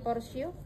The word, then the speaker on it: portio: cm porsio tipis lunak bukan portio tulisannya portio dibacanya porsio porsio tipis lunak ya